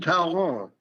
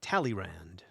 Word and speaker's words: Talleyrand: Even Talleyrand, sometimes pronounced Talleyrand, even Talleyrand was fascinated by him.